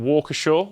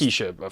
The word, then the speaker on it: Waukesha: I think it was November, he was in Waukesha, Wisconsin, and he just... Waukesha, I think it's pronounced. Waukesha, fair play.